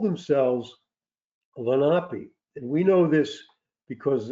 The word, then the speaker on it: Lenape: was a child uh we called the Indians of New Jersey the Lenny lenpy but they pronounced it lenapi but the British called